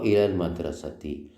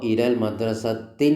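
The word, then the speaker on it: إِلَى الْمَدْرَسَةِ: എന്നായത് മാത്രമല്ല മഹ്രിഫി ആണ് അലിഫ് ലാം വന്നപ്പോൾ തൻവീൻ ഓട്ടോമാറ്റിക്കലി പോകും അപ്പൊ ഇലൽ മദ്രസത്തിൻ എന്ന് പറയൂല ഡബിൾ ഉണ്ടാവില്ല പിന്നെ ഒറ്റ കസറ ഇലൽ മദ്രസത്തി അതുപോലെതന്നെ ബൈത്തുൻ ഇനി ഒരു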